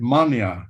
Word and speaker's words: Manea: They say it Mania in Romania.